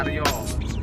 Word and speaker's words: Arya: Arya tuh kalau bahasa Jawa dibacanya Aryo, Heru Cakra kalau bahasa Jawa jadi Heru Cokro.